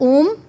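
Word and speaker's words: ॐ: और यहां से उच्चारण शुरू होता है आ। फिर हमारी छाती में 30% और इसका उच्चारण होता है ओम 50% हमारे होठों पे और इसका उच्चारण होता है इस तरीके से ओम का उच्चारण किया जाता है।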